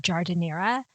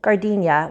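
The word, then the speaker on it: giardiniera: this because google let me down it's actually pronounced jardinera and that is not what google led me to believe when i first asked google said gardenia which sounds like the flower to me but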